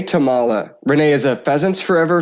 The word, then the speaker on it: Tomala: Brandon Morton is our producer and today my guest is Renee Tamala. Renee, welcome to the show. Did I pronounce your last name correctly?